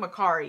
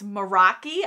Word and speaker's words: Meraki: I keep calling Mercari. It's Meraki, I guess is how you say it.